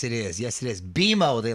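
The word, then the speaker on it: BMO: Beimo, they like it pronounced by the way.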